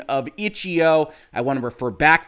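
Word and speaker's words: itch.io: is perhaps a surprising image it is the ichio announcement that they are going to be available in the epic game store now before anybody complains about my pronunciation of ichio i want to refer back to a tweet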